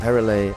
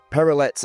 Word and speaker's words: Perrelet: We are here with Hugo, Lesizza from Perrelet and Leroy, or for my English speaking friends who have no elegance in their pronunciation, Perrelet and Leroy.